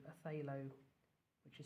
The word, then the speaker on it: phthalo: You might find if you've got a set of paints, there's something very similar called a phthalo, which is spelled phthalo.